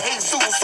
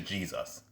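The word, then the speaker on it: Jesús: they're a Hispanic person, some people would think their name is Jesus, but it's Jesus.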